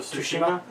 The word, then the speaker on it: Tsushima: that eventually tales of Tsushima kijima can I say the Tsushima to see the T is silent yeah Tsushima game yes